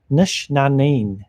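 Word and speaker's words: Nc'nean: Tried the first batch of Nick Neen recently. It was great. Pronounce Nishna'een.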